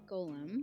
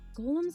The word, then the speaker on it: Golem: Golem. Is it Golem? It's Gollum from In- Lord of the Rings, but Golem is the creature.